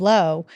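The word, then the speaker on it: Laus: spelled l-a-u-s so um which I always say Lao but it's our lady of low and that Apparition Mary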